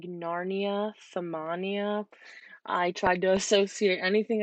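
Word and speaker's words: ثمانية: learned it is like a doorway like Narnia samanya I tried to associate anything I could to help these be a little easier to learn so that's just kind of how I remembered it is by samanya for Narnia a wardrobe door and it's an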